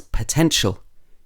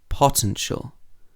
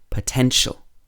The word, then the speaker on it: potential: suffixes here the main stress in the word is placed on the syllable before the suffix so for example potential is potential it's not potential or potential it would be potential okay so let's practice